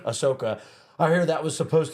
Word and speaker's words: Ahsoka: But I hear like Akasha, I'm getting the name wrong. Ahsoka.